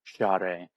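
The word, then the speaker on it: cyare: It's c y a r e share and it sounds like an sh.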